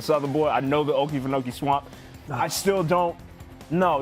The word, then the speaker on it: Okefenokee: It's the Okefenokee. Oh, the Okefenokee. That's a swamp in Okefenokee. southern Georgia. It's known as a southern boy. I know the Okefenokee swamp.